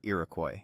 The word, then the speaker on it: Iroquois: French traders pronounced the Algangquin word Irakcoy, and somehow that name stuck.